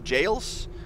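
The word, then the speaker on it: gaols: this is pronounced or it's the same word that we have now for jail for three days and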